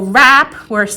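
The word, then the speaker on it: wrap: So rap with the silent W, nat with the silent K, gnome with the silent G, ghost with the silent H, things like that.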